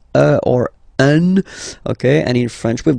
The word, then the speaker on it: un: doubt, but you've got to pronounce it like un. So it's what we call the nasal, so it goes in your nose, okay? So if you listen to me, you don't hear any N, okay?